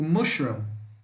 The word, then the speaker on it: mushroom: Então aqui é um dissílabo, são duas sílabas, tá? Mushroom. E o CH faz um único som, um som como se fosse meio de X. E os dois O faz um único som puxando para o U, tá?